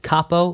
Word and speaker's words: capo: Capo like cap head.